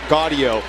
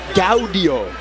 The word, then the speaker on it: Gaudio: showed up for dinner reservations party of 4 Gaudio, and the person corrects him and says, no, Gaudio.